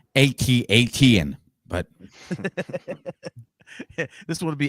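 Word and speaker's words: AT-AT: what the hell like you couldn't come is pronounced atat but this would would be at8 t 10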